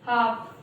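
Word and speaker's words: half: हमें ध्यान रखना चाहिए ये कुछ ऐसे वर्ड हैं जिनमें जो एल है वो साइलेंट होता है, और सही प्रोनाउंसिएशन क्या होगा, वॉक, कॉफ, हाफ, फॉक। तो ये जो है ये हमारा सही प्रोनाउंसिएशन होगा।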